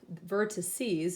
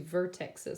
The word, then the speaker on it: vertices: up the two vert vertices is how you would actually say it I don't want to say the two vertexes because that's not how you say it but I'm gonna